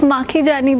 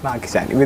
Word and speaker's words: Makhijani: have Miss vidushi makani am I pronouncing your name correctly ma'am yeah it's makani though makani vidushi makani and she is a